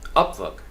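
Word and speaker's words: Upwork: अप के ऊपर उन्होंने, चूंकि अमेरिकन एक्सेंट जो है फर्स्ट सिलेबल पे स्ट्रेस कर रहा है, अपवर्क।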